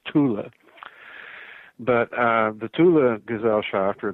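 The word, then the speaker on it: Thule: was known as the Tula gesellschaft it's usually mispronounced a full society right fool it's not fool in German as Tula but the Tula ghazal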